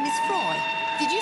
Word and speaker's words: Froy: By the way, my name is Froy. Did you say? No, Froy, not. Froy. I'm sorry, I can't hear you. Froy rhymes with joy.